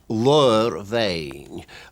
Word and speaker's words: Ladhar Bheinn: the pronunciation of that is L vain lur means a hoof there's no doubt about that the B becomes a v sound and is written B Lord of a